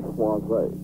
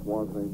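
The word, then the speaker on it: Swazze: Well, the newest album, which is called More Soise, that's a name that we use. We call our band the Soise music of Zim Zemeral.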